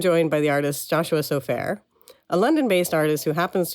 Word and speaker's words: Sofaer: how you say it sofa like the couch or no well probably originally it wasn't anyway so fair so fair so fair oh great okay that's much easier to say what I've been saying